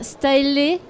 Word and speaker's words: Staehlé: Et donc monsieur Pierre Staëlé. J'ai bien prononcé.